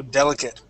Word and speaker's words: delicate: It sounds like a short i and a t just like that. Okay. So, delicate.